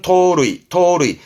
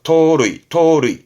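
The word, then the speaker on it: 盗塁: 발음은 토루이. 그 루를 훔친 거죠. 토루이.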